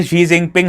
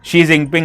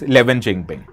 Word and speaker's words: Xi Jinping: You can be a big news anchor in the state news channel and still pronounce Xi Jinping as 11th Jinping.